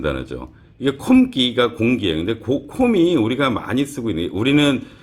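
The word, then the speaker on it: không: 근데 콤이 우리가 많이 쓰고 있는, 우리는 여기서 발음적으로 중요한 거는 콤이에요. 그러니까 콩이라고 안 읽어요. 그러니까 콩이라고 읽는 거 단어는 따로 있고요. 이 콤 발음이 없어요. 한국에요. 이게 약간 개구리처럼 해야 되거든요.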